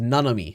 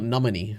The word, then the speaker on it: Nanami: It's Nanami. It's not Namini, alright?